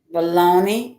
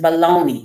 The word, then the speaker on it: bologna: ] it is like what do you mean the g is silent it's bologna wow me it is silent there's a a at the end baloney and the g is